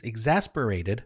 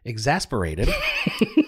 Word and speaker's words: exacerbated: Number five, some, I fear Chuck Lawless, will resign because of marital and family issues exacerbated by the stress. Or exacerbated. Exasperated. Did you misspell it?